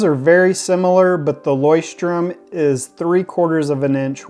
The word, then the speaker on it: Leuchtturm: out that it means Lighthouse so the different pronunciations that I found for this notebook is lerm lerm lorm but I found a video where a employee of the company refers to it as lyom and that's the way I like to pronounce